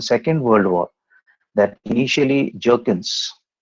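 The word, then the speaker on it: Bjerknes: earlier also it is the b is silent here it is jerkin's theory jerkin's theory he speaks about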